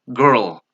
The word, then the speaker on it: girl: Okay, but the correct pronunciation is girl, a girl. Here, the schwa sound.